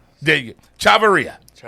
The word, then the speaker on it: Chavaria: Give me the correct pronunciation of your name, coach. It'll be Chavaria. There you go. Chavaria.